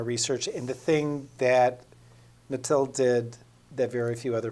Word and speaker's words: Mathilde: Remembering Mathilde, which is correctly pronounced how, Ann? That's correct. Okay. Mathilde.